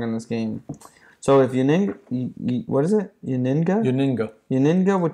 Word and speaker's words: Yennenga: Yennenga.